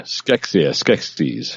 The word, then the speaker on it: Skeksis: Yeah, Skeksis.